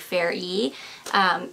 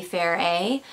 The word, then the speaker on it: Ferre: And thank you to whoever told me that the E is pronounced like Fair E, which makes sense because it's like Salvatore Ferragamo. So actually it might be Fair A, but yeah, Fair A Rose.